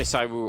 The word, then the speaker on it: ZywOo: How do you say it? You say ZywOo, right? I say ZywOo. ZywOo just comes naturally because you see the ZY, and we're not all French.